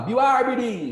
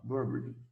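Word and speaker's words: Bill Aberdeen: Ele não vai falar Bill Arbidin, ele fala Burberding. Sacou? Essa é a pronúncia.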